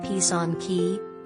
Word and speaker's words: Pysanky: Yeah, take a look at Pysanky, pronounced pih-sahn-KIH, the intricately decorated Ukrainian Easter eggs.